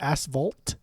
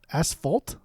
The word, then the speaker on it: asphalt: it's because the word asvalt it ends on the asvalt how do you say it fault asphalt yeah like an F not a v asphalt what same [ __